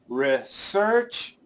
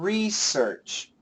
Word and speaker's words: research: But they show you, we say research, and we also say research. So we do both.